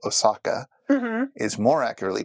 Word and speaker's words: Osaka: English tend to call Osaka is more accurately pronounced Osaka and the O is twice as long as the two A's are so that in a haiku would count for four oh Saka even though it is